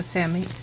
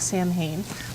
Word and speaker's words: Samhain: So Samhain, it looks like Samhain, but it's pronounced Samhain, and I'm going to